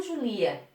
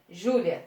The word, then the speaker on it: Júlia: Eu falo Júlia ou Julia? Júlia, certo? A pronúncia mais forte, a sílaba mais forte é Ju.